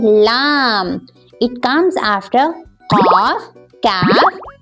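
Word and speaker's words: لام: Laam. Say it for 3 times. Okay. Laam, Laam, Laam.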